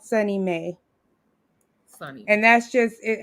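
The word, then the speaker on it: SONYMA: like in new york there's sunny may and that's spelled s-o-n-y-m-a um and that's a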